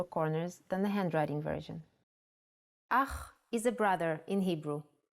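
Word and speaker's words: אח: Ach is a brother in Hebrew. Ach. The pronunciation is important. Try to pronounce it more glottally from your throat.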